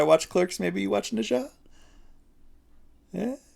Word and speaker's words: Nezha: Maybe we do a little media trade again, and if I watch Clerks, maybe you watch Nisha.